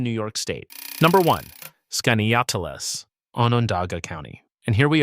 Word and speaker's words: Skaneateles: And yes, it's pronounced skinny atlas, which trips up almost everyone the very first time they try saying it out loud.